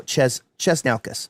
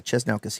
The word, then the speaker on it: Chesnaukas: Sang, Aaron Sherman, Steven Chesnaukas. Oh, Chesnaukas. Sorry, Chesnaukas. He told me how to pronounce it.